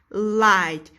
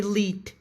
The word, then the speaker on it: light: Light. We can't say lit. It's not lit.